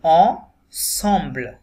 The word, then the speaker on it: ensemble: S single থাকা সত্ত্বেও এখানে এসটা সর মতো উচ্চারণ হবে এখানে জম্বল হবে না এখানে হবে সম্বল এটা একটা different word ensemble le samedi soir ma sœur এখানেও ই ইউ